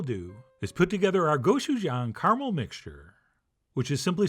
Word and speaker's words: gochujang: and by the way if you're having trouble pronouncing goou Jang just try saying go Chef Jan only a lot faster and you will have it but anyway we'll mix